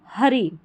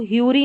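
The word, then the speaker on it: hurry: शी वॉज इन अ हरी, हरी पढ़ेंगे, इसको ह्यूरी नहीं पढ़ना है, हरी।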